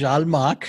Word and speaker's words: Zhal Makh: John is clearly making fun of the name, but it's Zhal Makh. It's Zhalmakh. Before we began, he told me, he said, I'm not going to pronounce the names.